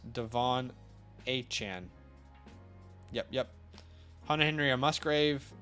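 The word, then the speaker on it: De'Von Achane: one of his A&M interviews he said it's pronounced Devon aan yep yep Hunter Henry Musgrave that is a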